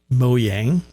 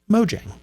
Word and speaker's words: Mojang: if you play minecraft there's an argument still going between people who want to say mo yang which is how it's supposed to be pronounced according to moying or mojang how it is pronounced phonetically mojang pick a side i